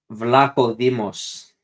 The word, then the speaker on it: Vlachodimos: How do you pronounce that? Vlachodimos.